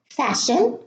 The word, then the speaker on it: fasten: So I'm going to read them again: Christmas, castle, fasten, listen, glisten, soften, moisten, hasten, wrestle, whistle.